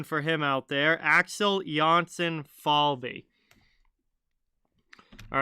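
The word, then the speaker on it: Jonsson-Fjällby: you have a hockey reference page with a pronunciation uh johnson falbe okay so that is right axel johnson falbe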